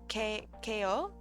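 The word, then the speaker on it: Kao: either tomorrow or Sunday say it like k ko okay but it's spelled cow did they realize that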